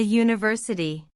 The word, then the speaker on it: university: A university. The word university starts with the letter U, which is a vowel, but it has a Y sound at the beginning, which is a consonant sound, so we use a instead of an.